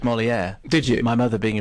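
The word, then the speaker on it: Molière: um at number eight molier and Matthew says s could you tell Dr ker that molier is pronounced to rhyme with where what how was I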